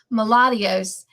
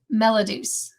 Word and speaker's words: Melodus: All these years, for 5 years, I've always pronounced it Melodios, but one day I heard her say it, and in a live, she corrected me, and I was so grateful, and it's Melodus.